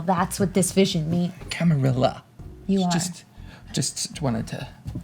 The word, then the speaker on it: Camarilla: Camarillo is going to fall. That's what this vision means. Camarilla.